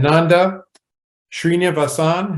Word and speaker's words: Nanda Srinivasan: And Nanda Srinivasan, have I pronounced that correctly, Nanda?